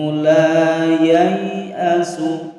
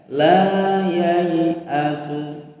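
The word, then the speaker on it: la yay'asu: Wala tayasu mir rauhillah innahu la yayasu. Nah ya, la yayasu. Alifnya hilang atau dianggap tidak ada.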